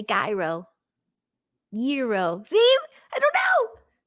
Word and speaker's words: gyro: Gyro with a Y is the correct pronunciation.